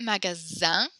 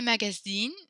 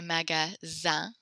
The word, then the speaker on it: magasin: You pronounce it magasin. If you say magazine, that's magazine, like the floppy book thing. So make sure you say magasin.